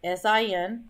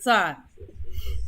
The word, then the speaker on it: sin: trig buttons they say s-i-n that's the abbreviation for sign do not pronounce it sin pronounce it sign drives me crazy it